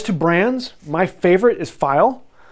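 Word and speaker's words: Pfeil: it's really cool or most germans will tell you it's pronounced file however i've talked to several people at the company and said that it was uh peffle um and then i talked to a couple other people that pronounced it another way um and so pronunciation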